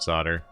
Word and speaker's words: solder: It's actually the North American pronunciation of solder.